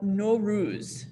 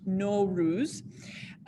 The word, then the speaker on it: Nowruz: So this is the holiday of NO-ROOZ. So if you want to try saying that, it's pronounced NO-ROOZ.